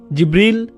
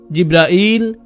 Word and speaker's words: জিব্রাইল: জিব্রিল, জিব্রাইল, জিব্রাইল, জিব্রাইল, জিব্রিল, এই 5 ভাবে তার নাম উচ্চারণ করা হয়।